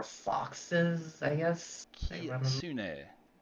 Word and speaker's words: kitsune: Kitsune. Have to say it right, not kit. Kitsune.